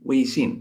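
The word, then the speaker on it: 微信: Weixin, is that right?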